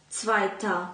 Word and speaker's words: zweiter: Wtedy mówimy zweiter Mann, czyta się A, a nie ER, tylko ER się pisze, zweite Frau, zweites Kind.